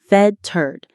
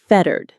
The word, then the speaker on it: fettered: Fe tt t e r e d. Fed turd. The stress is right at the beginning. Fetarded.